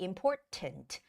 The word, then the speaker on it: important: say important important okay but in British English it's okay to make that hard T sound which would be important important if you're calling to